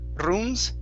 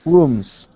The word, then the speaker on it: rooms: this last word here instead of runes rolling that r give me a good r sound here it's rooms rooms okay very good and